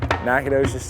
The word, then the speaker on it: Nacogdoches: did it take you to learn how to pronounce the town in Texas that you're from Nacogdoches Texas it probably took me until I was